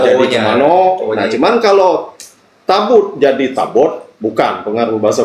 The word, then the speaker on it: tabut: Tapi tetap orang Inggris membacanya tabut bukan tabo.